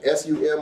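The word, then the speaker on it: שׂוּם: Now, you can either spell it using the English transliteration S-U-M or S-I-M, but it's actually pronounced sum.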